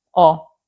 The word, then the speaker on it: ho: Io ho, tu hai lui, lei ha. Noi abbiamo, voi avete, loro hanno. Come avete visto, la lettera H si scrive ma non si pronuncia.